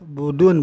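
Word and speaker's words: بُدُن: Gimana cara baca bodan ini dengan domah ba, wadal, budun, berarti budun ini wabi iskanil dal dan mensukun ke anda. Dengan mendomahkan ba, bu dan dalnya itu.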